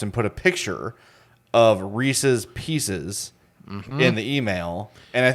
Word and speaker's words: Reese's Pieces: Oh, I say Reese's Pieces.